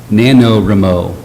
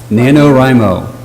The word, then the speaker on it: NaNoWriMo: I think it's pronounced NaNoWriMo. Is that right, Robin? One more time? NaNoWriMo.